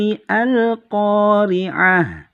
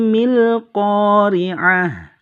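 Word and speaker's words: القارعة: Qoriah nggak boleh ya Jadi tidak boleh terbaca Bismillahirrohmanirrohim ialah khoriah ini tidak boleh ya yang benar saya ulang lagi Bismillahirrohmanirrohim mi khoriah jadi hamzahnya harus dihilangkan secara bacaan kalau secara penulisan dia harus tetap ada ya Nah kenapa alasannya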